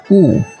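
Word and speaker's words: 物: Contohnya misalnya kita kasih u di kanan, maka bacanya tetap u persis ya, nada 4. Kita ulangi, u.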